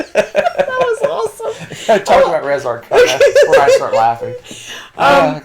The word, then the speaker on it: Res Arcana: Res Arcana or Res Arcana, however you want to pronounce it. What was that again? Say it one more time. Res Arcana.